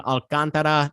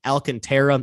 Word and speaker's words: Alcantara: marlin's pitcher sandy alcantara that's how you actually say his name alcantara not the not the white americanized version alcantara it's alcantara but uh you know it's